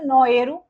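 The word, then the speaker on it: Naoero: तो नोएरू, right? This is what इनका original जो प्रोनाउंसिएशन है ये उस पे ही मूव कर गए.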